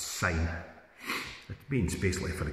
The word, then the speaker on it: syne: but TI for me it's not pronounced that way it's sign it means basically for